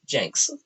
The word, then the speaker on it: Jenks: town yeah okay um i used to say it correctly like you know normal people and then i worked with a guy who came from minnesota and he changed the way i've i say it forever how do you say